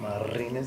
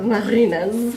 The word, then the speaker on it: Marinez: Did I say it right? Marinez, yeah. Marinez. Sounds more exotic when you roll the R's.